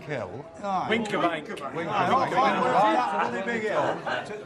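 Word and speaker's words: Wincobank: We went to the top of, how do you pronounce it, Winskabank Hill? Winkerbank.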